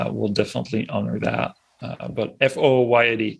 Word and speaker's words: Fouillade: But FOOYAD, it's the phonetic spelling of my last name. Because when I moved to the US, people couldn't say Fouillade.